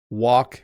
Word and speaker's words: walk: Walk and work. So walk is interesting because you don't really need the L.